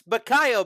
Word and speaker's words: Bacayo: It's Bacayo, by the way. For anybody listening at home, that's how it's pronounced.